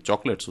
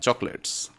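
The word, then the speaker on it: chocolates: সাম চকোলেট, মানে চকলেটস, উচ্চারণটা চকোলেটস হয় না, চকলেটস লিখতে চকোলেটস, বাট উচ্চারণটা চকলেটস।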